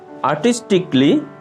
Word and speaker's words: artistically: Artistically. আর্টিস্টিকলি, শৈল্পিকভাবে। আর্টিস্টিকলি, শৈল্পিকভাবে। এখানে mark করা এ লেটারটি হচ্ছে সাইলেন্ট লেটার।